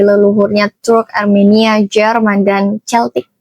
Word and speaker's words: Celtic: Tujuh anak itu adalah pertama ada Jamer yang jadi leluhurnya Turk, Armenia, Jerman, dan Celtic. Celtik ya bacanya yang sekarang wilayahnya mencapo Turki, Armenia, Jerman sampai Inggris dan Irlandia.